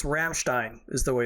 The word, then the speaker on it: Ramstein: throwing stuff at the screen and because it's Ramstein is the way it's pronounced Ramstein Air Force Base and then they they screwed